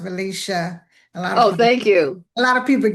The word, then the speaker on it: Valecia: Uh, Valencia. Uh, just um, so you know, it's pronounced Valicia.